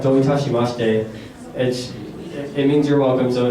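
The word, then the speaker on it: どういたしまして: There's a word called doitashimashite. It means you're welcome. So if someone says to you arigato, then you can say doitashimashite. And the easy way to remember that is don't touch my mustache.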